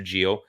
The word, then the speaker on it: Giroud: It's Olivier Giroud, Monsieur Gio. I know your American accent there. There is no D. The D is silent.